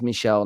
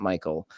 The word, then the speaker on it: Michelle: you were not aware I was pronouncing his M name wrong it is Michelle not Michael uh I think is